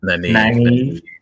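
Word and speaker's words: Nynaeve: Naive.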